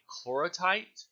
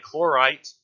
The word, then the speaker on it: chlorite: greenish color there represents a clora tight a chlorite tight I don't know why I added the extra syllable I chlorite mineral assemblage and you